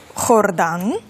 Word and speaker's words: Jordán: я думаю що варто записати хордан так так Тобто це літера хота і вона має звук х тому власне відрізняється вимова нашою мовою Йордан іспанською хордан так І власне звідки така